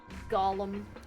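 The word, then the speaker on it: GOLM: course Gollum my shoes surprise this ends up being pronounced like Gollum anyway on a side note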